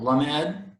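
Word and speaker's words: למד: Remember, you got to accent the last syllable. Lamed.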